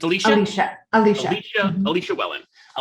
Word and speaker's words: Alecia: with me is it alessia or alicia it's alicia alicia alicia i like the spelling of your name by the way and in my head i've been pronouncing it alessia which just sounds like i've been watching too